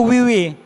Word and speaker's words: WeWe: juga Linkin kita @wwtalent tapi kita bacanya Wiwi pakai spelling bahasa Inggris i ya itu sih paling oke